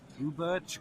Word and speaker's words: ubirch: I was going for whether it should be pronounced in the English way or the German way. Yeah, it's in the English way, I guess.